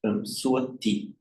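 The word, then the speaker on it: สวัสดี: or before another consonant, the S becomes pronounced as a T. That's why in Thai this is swati, swatika, swati. So it's that same word.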